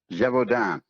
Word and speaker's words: Gévaudan: Gévaudan.